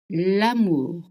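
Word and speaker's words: l'amour: Lamour. Lamour means love. Actually, it means the love. Am is love. It's the sound. A is I pitch. A. Okay. Again, we don't have short and long. Only short sounds in French.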